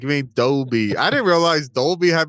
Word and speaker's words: Dolby: How did she How did she pronounce it though? Like Dolly or something like that. Or like Dalaby. Yeah. It doesn't sound right on Dalby.